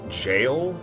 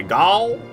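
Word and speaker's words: Gaol: I guess it's pronounced Jail Cave. I want to say Gaul. I want to say Gaul Cave, but I don't think it's Gaul. Sorry, I'll stop saying Gaul like that.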